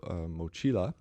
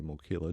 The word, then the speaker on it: mochila: the he was riding grab mochila or mochila depending on who's pronouncing it but it's a special